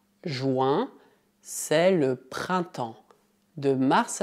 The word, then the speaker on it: printemps: Atenção à pronúncia. Em francês, I mais N tem o som nasal un e mais M soa como en. Além disso, as duas últimas letras são mudas.